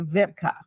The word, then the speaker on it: Wiebke: That's a German name, right? Yes, it is. And we went through this in the beginning, so I will pronounce her name correctly. So I'm going to say Wiebke.